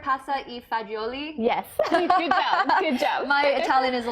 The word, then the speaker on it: pasta e fagioli: with is one pot pasta am am i pronouncing this right pasta e fagioli yes my Italian is a little rusty yeah